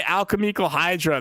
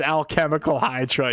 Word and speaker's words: Alchemical Hydra: and like alchemyal cuz I used to say alchemyal hydra. They're like, "No, it's alchemical hydra."